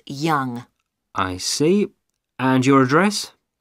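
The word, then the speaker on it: Yonge: now can I have your name yes it's young young that's that's spelled y o n g e that's young I see and your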